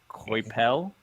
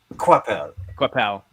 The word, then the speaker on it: Coipel: the early works by, and I'm going to mispronounce his name, Oliver Coipel. I did it for you earlier. Yeah, Weren't no, you paying I know. attention? Quapel.